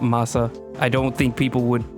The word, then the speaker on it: Mahsa: So from what I can tell, English speakers usually say Mahsa anyways, but technical pronunciation, the traditional pronunciation of her name would be Mahsa. Mahsa. Not Mahsa. Mahsa.